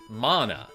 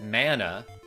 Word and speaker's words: mana: But also, if you look it up, it comes from, it's like a Polynesian word that refers to like life force or energy, and they pronounce it mana. Like, that's where the word comes from. So you can't tell me that I'm saying it wrong just because your community says it mana. Because, like, guess what? Your community has been saying it wrong for years.